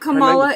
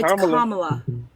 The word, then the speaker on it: Kamala: The black the black the black It's not Kamala. It's Kamla.